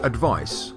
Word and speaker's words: advice: and advised the verb the noun advice has a C which is pronounced like an S and the verb advised